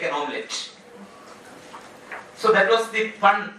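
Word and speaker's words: hommelette: And amidst this struggle, according to Lacan, Hamlet became an omelette. So, and not a joke indeed, Hamlet became an omelette. And here the spelling of the omelette is H-O-M-M-E-L-E-T-T-E. Omelette. And in H is silent there.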